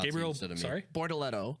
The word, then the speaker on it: Bortoleto: Bortoleto. Bortoleto. Bortoleto. It's Gabriel He's got it. Bortoleto.